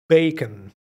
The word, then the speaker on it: bacon: tocino vamos a decir Bacon aquí es al revés la última sílaba suena muy cortita baken y a las almejas